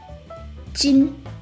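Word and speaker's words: 金: Metal on itself is pronounced as jin.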